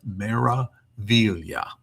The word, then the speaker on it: Meraviglia: This is pronounced Meraviglia.